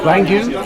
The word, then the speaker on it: Raingou: Have I pronounced that correctly? Raingou? Yes. Very good.